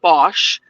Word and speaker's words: Bach: They resonate with Bach. BACH. In the United Kingdom, they pronounce it Bosch, which is really confusing for spelling.